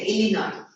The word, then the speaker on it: Illinois: She's been up to Illinois. to see her S is silent there, Illinois.